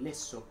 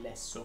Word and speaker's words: lesso: Ricorda che cucini il lesso, non il lesso.